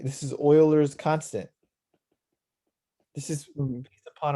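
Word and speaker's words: Euler: we talked about it right this this is Oilers constant this is based upon a mathematician that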